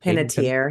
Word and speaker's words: Panettiere: Panettiere, yeah.